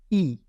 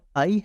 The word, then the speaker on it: i: वो है ए ए उसके बाद है ई इंग्लिश में इसकी साउंड आई है लेकिन इटालियन में इसकी साउंड ई है इसको ई प्रोनाउंस करेंगे आई नहीं प्रोनाउंस करेंगे ठीक है अब यह